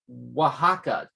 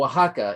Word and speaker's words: Oaxaca: the comments feed saying it's pronounced more like oaxaca w-a-h-a-c-a l-o-l my mom's from there oh oh okay fair enough all right so oaxaca is how that's pronounced